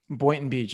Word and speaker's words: Boynton Beach: Boynton Beach. Am I saying it right? Boynton Beach, yeah.